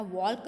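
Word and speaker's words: walk: सो यहाँ पे आपका वॉक नहीं बोलते हो, आप वॉक बोलते हो, तो यहाँ पे एल जो है वो साइलेंट है, सो आपको एल के नीचे अंडरलाइन करनी है।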